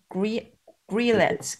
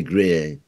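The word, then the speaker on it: Robbe-Grillet: The painting by Mark Tansey depicts the writer Rob Grillet cleansing. Sorry? You don't pronounce the T, Grier.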